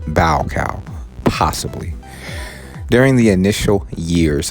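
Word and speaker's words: Baucau: pronounced that right b-a-u-c-a-u it looks like bacall okay elsewhere east timorese resistance continued but by 1978 the annexation of east timor by indonesia was essentially complete bow cow is pronounced bow cow possibly during the initial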